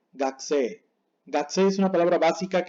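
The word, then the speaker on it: がくせい: Esto no se pronuncia gakuse, sino gakse.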